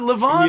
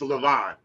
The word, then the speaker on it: Levon: song that lavon did now is it lavon or levon what what how do you say it once i get down south of memphis it's levon because when i go down to where he's from to the delta it's levon because it was mark